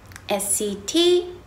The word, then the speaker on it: set: 할게요 음 여러분들 sat 와 sdt 를 일단 발음해 보세요 sat set 음 똑같은데 에 자 이거 의 차이점을 볼게요